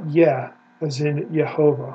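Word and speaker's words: Yah: there it is yeah that is the first syllable of the Divine Name yeah we know it absolutely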